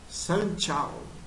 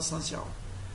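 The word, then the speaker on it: San Jiao: que eles chamam de Sanchal. Sanchal. Eu nem sei se eu pronunciei correto, tá? Porque escreve San, S-A-N, Jiao. Só que o J tem som de T na China.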